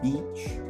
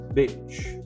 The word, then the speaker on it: beach: Confunde a palavra praia em inglês, que é beach, com uma palavra que quer dizer cadela, bitch.